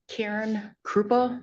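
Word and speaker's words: Caryn Krupa: Karen Krupa. First name is spelled C A R Y N.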